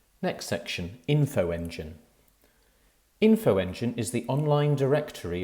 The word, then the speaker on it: Infoengine: spelled c y m r u next section infoengine infoengine is the online directory of third sector